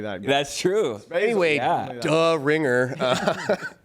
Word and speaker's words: Die: Yeah, Die means the, and Ringer. It's D. D. Yeah. What? That's how you say it.